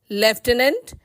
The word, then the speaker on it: lieutenant: Lieutenant can be broken into lie, you, 10, and.